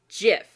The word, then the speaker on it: GIF: And it's like, it's technically pronounced GIF. They are wrong. Hard G.